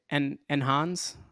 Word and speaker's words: Enhanze: And I want to spend some time having you dive into, I might mess this up, but Enhanze? Did I say it right? You did. Awesome.